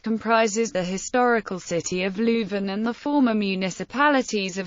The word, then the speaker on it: Leuven: Leuven, French, Leuven, pronounced love, often used in English, is the capital of the province of Flemish Brabant in the Flemish region, Belgium.